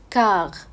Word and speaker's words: quart: وربع بيقولوها بالفرنساوي كاغ. كاغ من غير طبعا ما ينطقوا التي.